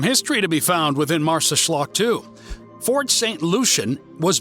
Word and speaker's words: Marsaxlokk: This fishing village's name might look like a mouthful, but it's not too bad once you realized it's pronounced Marsaxlokk and translated to southeastern port.